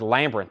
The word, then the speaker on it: Labyrinth: He said, you were mispronouncing two words all night that was making me so mad. First is Western, and the other was Labyrinth. He says, you're putting extra letters in there.